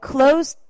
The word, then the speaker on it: closed: 트 발음이 나세요 자 그러니까 클라고 하시면 안 돼요 나 문닫았어 I cled the door 아니라 I closed the door 이렇게 발음하시는 거세요 그래서 트 발음이 나시는게